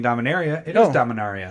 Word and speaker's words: Dominaria: Oh, by the way, found out this week that you are saying Dominaria correctly, and I am saying it wrong by saying Dominaria.